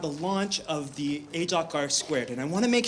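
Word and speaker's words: ageLOC R²: name of the product it's r squared it is not r2 and i only tell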